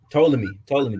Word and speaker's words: Ptolemy: Ptolemy. The P is silent.